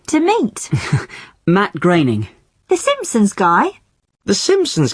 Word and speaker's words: Groening: like to meet matt groening the simpsons guy the simpsons guy i always thought it was pronounced groaning well i did too for a long time but no it isn't it rhymes with raining that's the name sorted